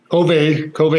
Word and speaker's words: Kove: Kove is correct, yeah. That's how they say it.